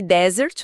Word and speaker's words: desert: Pegue desert, o deserto, e dert, a sobremesa. Se você colocar a força na primeira sílaba, a sua voz desce, fica grave. E se jogar pra segunda sílaba, o tom sobe.